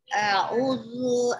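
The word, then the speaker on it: أَعُوذُ: A'udzu aku berlindung Panjang Ibu, baca panjang.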